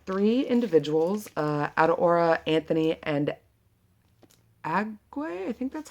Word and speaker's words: Agu: This book is about three individuals, Adaora, Anthony, and Agwe. I think that's how you say it. I'm pretty Agu, A-G, because it's A-G-U. And so I'm pretty sure it's pronounced Agu.